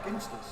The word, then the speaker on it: Ginsters: G gers gers yeah ginsters it's hard is hard it's not gin wait what H Dan